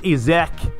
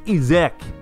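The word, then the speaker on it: Isak: I know the likes of Izek, that's how you say it. Oh, I've Googled it. It's not Isaac, it's Izek.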